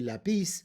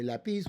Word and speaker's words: lápiz: Lápiz, it ends with a z, so the natural stress, if there were no written accent, it would have to be lapis, but we don't say lapis, we say la pis and we put an accent right there.